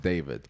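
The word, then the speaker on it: D4vd: And I know his name is spelled D4 VD, but apparently it's pronounced David.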